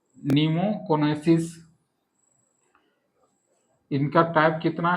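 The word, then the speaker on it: pneumoconiosis: आठ प्रकार में पहला पहला डिजीज होता है नीमोकोनेसिस इनका टाइप कितना है? ए टाइप है। पहला टाइप है नीमोकोनोसिस। पी इसका साइलेंट रहता है निमो निमोकोनोसिस।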